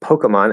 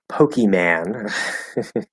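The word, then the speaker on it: Pokémon: okay yeah pokemon um or some people say which all these people are of older generations pokeman which i don't know why they do it because there's not even an a in it that doesn't make any sense at all but some older people will say it that way pokeyman um so i usually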